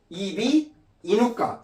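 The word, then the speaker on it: 이비인후과: 그러면 이거 어떻게 읽어야 돼요? 이비인 후가라고 읽어야 돼요. 이비 인가라고 읽어야 돼요. 예 당연히 이비 인우가 인우가 목구멍이란 뜻이거든요. 이비 인우가라고 해야죠.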